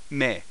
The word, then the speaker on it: め: hey this is me me uh thus pronounced as in May the month of May the very month of May in mate my best mate may Checkmate May uh so sounds like ma y uh the keyword just